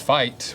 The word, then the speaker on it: Feit: Fight, pronounced fight, was established in 2005.